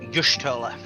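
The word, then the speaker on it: Y'shtola: uh by the way it's pronounced yoshtola you're stolen some sometimes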